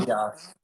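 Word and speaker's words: ἅγιος: Hagios. Hagios. With the H, the rough breathing sound. Hagios.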